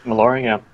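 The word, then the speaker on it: Maloriak: Maloriac? Is that how we're pronouncing it, I think? Yep. Maloriac.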